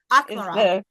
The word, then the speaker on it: Akmaral: I am here today with Judith Lindbergh, the author of it's AKMARAL, is how you pronounce it? AKMARAL. AKMARAL.